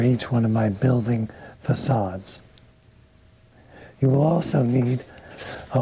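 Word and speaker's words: façade: is called a facade the word is facade you pronounce the c with an s sound the whole front wall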